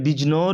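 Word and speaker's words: Bijnor: তো দিল্লি আলীগড় বাজনর এটা বিজনর বাংলাতে লেখা থাকছে বিজনর উচ্চারণটা হবে বিজনর বাংলায় বিজনরে এইটাতে সার সাইয়েদ আহমদ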